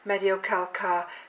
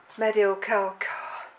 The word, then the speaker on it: Mediocalcar: you now is the Mediocalcar decoratum. Probably not quite that, but the Mediocalcar's the correct pronunciation.